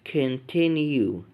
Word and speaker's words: continue: اليو والاي يتنطقوا يو، زي اول كلمة معانا كيو، rescue، continue. بنقول كن مش كون. continue.